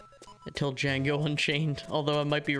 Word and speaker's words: Django: It's spelled with a D. Okay. I always thought it was like Django when I was a kid, because I didn't know there was a silent D Django name.